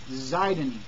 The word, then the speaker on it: Sidon: And you look up the word Sidon, and it means fishery. Or another translation is with it, instead of an S, say Z, Zidon, Zidon, or Zidon, or whatever.